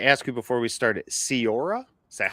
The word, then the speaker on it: Ceora: Oh, and I meant to ask you before we started, Cierra? Is that how I pronounce it?